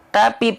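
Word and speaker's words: تَ: menemukan huruf yang tipis dan dia berharakat fathah maka cara bacanya BM s s buka mulut sambil senyum ya buka mulut sambil senyum Jadi bukan hanya sekedar buka mulut aja Ta tapi sambil senyum tapi sambil senyum te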